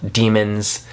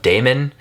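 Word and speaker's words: daemons: has these familiars called demons, who are like their companions, and I know they're pronounced demons, but every time I see them I think of Damon, because they're like the like the AEEA like thing.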